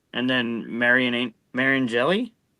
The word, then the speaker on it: Mariani: I mean, it's Tashini and then Marian Mariani.